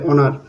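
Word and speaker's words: honour: উচ আছে অর্থাৎ সাইলেন্ট আছে এখানে এইচ এর উচ্চারণ নেই অনেস্ট তারপরে অনার অনারের এখানে এইযে এখানে এইচটা সাইলেন্ট হয়ে গেছে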